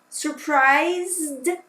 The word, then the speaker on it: surprised: beautiful dark intelligent okay surprised remember do not pronounce the e surprised okay good job now